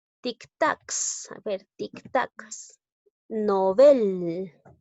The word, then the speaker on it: Nobel: se deben tildar nobel nobel es una palabra aguda termina en la letra l no la tildó porque